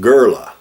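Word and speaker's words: Göller: So I went back and I researched how to pronounce that O with the two dots. That is actually a German letter, and the way that it was done online, the sound is more like a sound. So Goller is actually how it's supposed to be pronounced.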